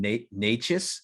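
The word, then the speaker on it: Nečas: absolutely disgusting, is Martin Necas. Is it pronounced with, it sounds like a CH, but it's just a C.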